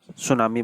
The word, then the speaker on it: tsunami: बच्चों इसमें सुनामी में टी साइलेंट है इसलिए इसको हम सुनामी बोलेंगे।